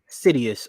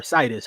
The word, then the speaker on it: SIDUS: So like Insidious, but just the last part.